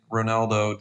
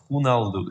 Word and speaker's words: Ronaldo: people started complaining which I understand now you're pronouncing Ronaldo the the way everybody does but we we're based title is based in in Portugal so we know the right the right pronunciation right hunald is the right pronunciation I try to be